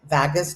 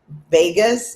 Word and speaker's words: vagus: Because it activates the vagus nerve. I don't know how to pronounce that one. I know what it is. Is it Vegas? Vegas? Vagus. It sounds like Vegas, so it's kind of weird.